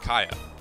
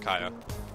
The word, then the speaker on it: Kya: a sequel was uh kaya it was a kaiakia i think it's pronounced kaya kya female protagonist it's about